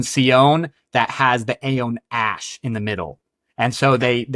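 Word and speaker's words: Ashe: he names him Sion Ash. Yep. But as we know with the pronunciation of Aeons, it should be 2 syllables, so it'd actually be Sion Ashi.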